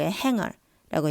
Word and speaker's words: hanger: 근데 실제 영어에서는 행거가 아니고 hanger라고 얘기를 해줘요. 그러니까 동사에 er 붙을 때는 그냥 어로 붙여주고 형용사에 er이 붙게 되면은 제일 마지막에 g 발음을 넣어가지고 stronger, longer 이런 식으로 발음이 된다라는 것도 같이 알아두면 좋을 것 같아요.